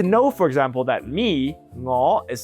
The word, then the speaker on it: 我: 我 is NGO. Whatever tone it is, it will still be spelled NGO.